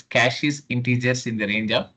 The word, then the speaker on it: caches: So the exact term I mean pronunciation is caches inteious in the range of minus 5 to 256.